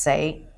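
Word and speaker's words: 死: in Chinese, it's pronounced say, and when we say death in Chinese, it's also pronounced say.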